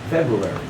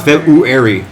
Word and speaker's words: February: February's guy a doctor February beginning so I just forget that whole line you know silent the first are don't even know it just kind of blend fabu fabulous I can't pronounce feburary February but it is